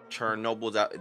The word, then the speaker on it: Chernobyl: The Chernobyl. Chernobyl is how you say my bad.